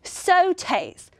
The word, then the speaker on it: sautés: Yes, sautés. Now this word looks like it would be pronounced like sauces with an aw sound. But in the French language, they would pronounce this with an O sound, sautés.